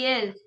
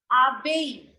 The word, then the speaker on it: abeille: Don't you remember that double L in French is always silent? Isn't it? Abiel. Abeille.